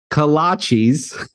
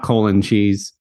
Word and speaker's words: kolache: little coffee shop it's kolaches coffee shop in Centerburg and an individual kolaches is called a kolache just one kolache plural kolaches not colon cheese sorry about that Robert